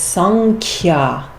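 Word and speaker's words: सांख्य: And so we pronounce this sankhya because the Anusvara changes to that sound.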